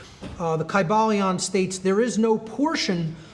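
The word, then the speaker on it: Kybalion: pronounced in the ancient greek language in which there was no like short y sounds you know it would have been a long i sound kai ba leon and every syllable would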